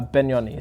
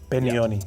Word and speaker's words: Penioni: Uh, Benoni. So, Beni. Yeah. You pronounce the the P as a B. B. Benonyi.